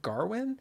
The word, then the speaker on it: Gawain: It's the subtitles said Gawain, but it seemed like they were putting an R in there, like Garwin, when they were actually saying it. I'm going to say Gawain.